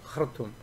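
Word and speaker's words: Khartoum: 그런 것들 주장했던 사람인데 이 사람이 이제 그 수단의 수도 이게 하루툼인데 이게 H 발음이 바로 나는 게 아니라 약간 되게 나는 겁니다. 카르툼입니다. 카르툼, 그죠?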